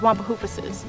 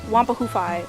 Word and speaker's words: Wampahoofuses: Once, long ago, the Wampahoofus— now you must pronounce the plural of Wampahoofus as Wampahoofuses. Do not say Wampahoofi or Wampahoofusi unless you want to sound very silly.